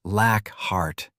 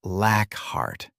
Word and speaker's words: Lockhart: It's pronounced Lockhart, Dead corrected as Aiden took the ID from him. Not Lockhart.